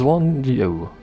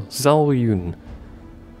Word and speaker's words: Zhao Yun: Yeah, you can play as Zwan Yo. That's not how you pronounce it at all. Zhao Yun.